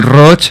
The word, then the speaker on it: Roig: Miguel r o Miguel roch el mismo dice apellido polivalente así que elijamos cóm pronunciarlo pues Miguel ro que